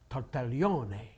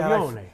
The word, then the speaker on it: Tartaglione: It's Tartaglione.